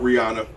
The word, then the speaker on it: Rihanna: What's up, Rihanna? Somebody. you know told her- Rihanna? Somebody told her. That's Rihanna. That's how you say it.